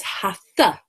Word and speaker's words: Hatha: So it's a Sanskrit word, and the word, when you translate it into the English language, has this dot under the T. And when you have a dot under a letter, it means put your tongue to the roof